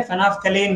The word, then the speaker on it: phenolphthalein: फेनोप्थलीन, spelling बड़ा टेढ़ा मेढ़ा है, जरा अच्छे से याद करना इसको, है ना, एल साइलेंट है, फेनोप्थलीन बोलते हैं, फेनोप्थलीन एंड मिथाइल ऑरेंज।